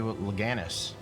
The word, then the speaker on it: Lenegis: familiarizing ourselves with it on our way to loganus that's how you say it we should be